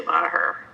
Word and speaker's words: Meagher: Well, I say Mah-her.